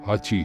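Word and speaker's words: 八: جاپانی رسم الخط میں نمبر 8 کے کردار سے مشابہت رکھتے ہیں جس کا تلفظ ہاچی ہے۔ اس نے اس کا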